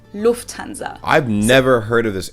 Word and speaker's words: Lufthansa: but it's so difficult the emphasis on the first syllable lufthansa versus lufthansa nice and that